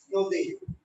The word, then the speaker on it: নদী: দীর্ঘইকারে উচ্চারণ বাংলায় রস্বইকার হয়ে যায়, আর আগেরটা দীর্ঘইকার আছে বলে আগেরটা প্রকার হয়ে যাবে নদী। দীর্ঘইকার হবে না, হয়ে যাবে রস্বইকার, নদী।